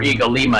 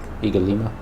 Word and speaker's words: Ig-Alima: Or where Eagle Lima is. Eagle Lima. Is that how you say it? Yeah, cuz it's like kind of Iggy.